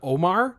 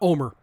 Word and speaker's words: Omer: would have been better because I thought they were just mispronouncing Omar yeah not Omer like Homer without the H stupid I hate it